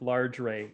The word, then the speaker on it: Large Ray: Dinner with Large Ray, and it rhymes with like that movie My Dinner with Andre.